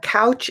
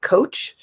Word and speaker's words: couch: our living room but sometimes the word couch is mispronounced and it said something like coach which is completely different a coach is someone